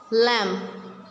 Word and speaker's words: lamb: Silent B, lamb, thumb, comb, bomb. We will not pronounce B in all of these words.